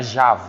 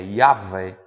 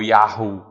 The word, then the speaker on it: Yahvé: pronunciava assim como que um gemido, né, formado pelas letras Y H, W, H, que a gente aportuguou e chama de Yahvé, né? Não é Jah, é Yahvé ou Yahu, né?